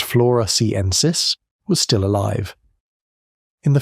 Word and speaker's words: floresiensis: On the island of Flores, a few hundred miles east, a 3.5-foot tall human relative called Homo floresiensis, pronounced floresiensis, was still alive.